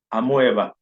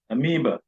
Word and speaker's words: amoeba: that has only one cell and some people pronounce it as amoeva it's not been pronounced that it is amoeba amoeba so the next slide shows us where